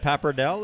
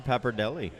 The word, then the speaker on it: pappardelle: Speaking of, is it pappardelle or pappardelli?